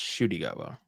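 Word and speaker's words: Ncuti: say shoy gwa shwa it's spelled NTI gwa but it's pronounced shwa and I only started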